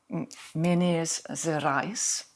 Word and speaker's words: Minas Gerais: Och de kommer från Brasilien, från östra Brasilien, där det finns ett område som då heter Minas Gerais. Jag är inte säker på att det uttalas precis så.